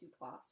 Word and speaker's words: Duplass: Plus, she was also like super nervous that she was pronouncing Duplass wrong, and I was like, it's not even a hard name.